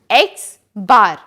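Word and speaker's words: X̄: is represented by capital X and it is pronounced as X bar individual score is denoted by small X total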